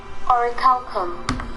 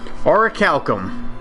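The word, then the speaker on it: orichalcum: pronounce the word or oricalcum oricalcum there you go a video with 28,000 views tells you that's how it's pronounced I'm going to forget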